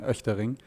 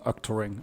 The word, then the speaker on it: Oechtering: So the German pronunciation is Oechtering. I think in American would be like Oechtering or Ostrich.